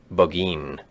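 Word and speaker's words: Burgoyne: Nothing had a famous fox hound named Burggoyne. He pronounced it boin which my informant used to borrow.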